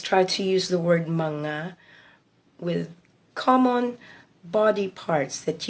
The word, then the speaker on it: mga: manga before the word manga is spelled M G L is the only word in M and G years together so mga but it is read as manga so let us try